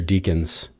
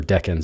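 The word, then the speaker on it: decan: some of the ma one of the major deacons or deckin I should say I learned how to say it as deacons I guess cuz I read it and was corrected once um but you see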